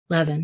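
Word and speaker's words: Meyer Levin: about for me was Meer Levin or Levan not sure how you pronounce it Levan yeah who was he he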